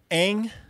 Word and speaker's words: Aang: very stage II yeah the main character's name is what Aang yes yes you said it correct yeah and then they they mispronounce it throughout this movie I'll go an egg but as I said